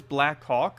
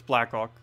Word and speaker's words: Blackhawk: If it was Blackhawk, I would say it a little bit more distinctly. But it's Blackhawk. So I say it quickly sometimes. Because it's all one word that you say in like 2 syllables. Instead of separating as 2 separate words.